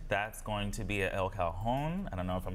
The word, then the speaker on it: El Cajon: That's going to be at El Cajon. I don't know if I'm pronouncing that right. El Cajon?